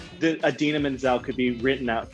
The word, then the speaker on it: Idina Menzel: blamed everyone but himself you don't need phonetic spelling for idina menzel it's adena menzel how do you pronounce it dina menzel you pronounce it like the actress adina menzel maybe it's the thing